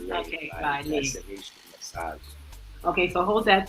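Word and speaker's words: Ralé: And she was actually doing body work, what we call in Haiti, Rale. Rale. Rale. Rale. R-A-L-E, Rale. Rale. I know the R is a little bit hard to pronounce unless, you have that.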